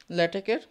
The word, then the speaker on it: LaTeX: এর এক্সটেনশন জানো কেউ ল্যাটেকের ফাইলের ডট টেক্সট ঠিক আছে ডট টি সি টেক্সট এবার আমি বারবার বলছি ল্যাটেক্স কিন্তু একচুয়ালি এটা ভুল উচ্চারণ সঠিক উচ্চারণ ল্যাটেক কে কে উচ্চারণ হয়